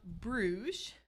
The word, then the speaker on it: Bruges: out the fact that it is said both ways depending on where you are from so it is it is pronounced Bruges and rouga so either way which